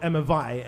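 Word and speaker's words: Emma Vie: So Emma V is spelled Emma Vi, like V-I-E. It's all one word. Emma Vi, but it's Emma V.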